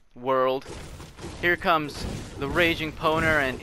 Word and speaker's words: Powner: dub watch out world here comes the raging poner and it's yappy yeah that's how you say my name friend i'm sure you pronounced it wrong already let me dream oh